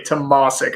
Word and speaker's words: Tomasik: the easier ones but still difficult tomorrow okay tomasik all right so everybody memorized that and store